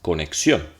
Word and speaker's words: conexión: Noten que si estuviese aquí sería conexión. Si estuviese aquí sería conexión. Y si estuviese acá, que está acá, es conexión. Bien, al final, es la última.